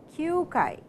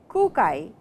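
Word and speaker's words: 九回: And kyu over here, kyūkai, it is not kūkai, which is ku, it is kyūkai.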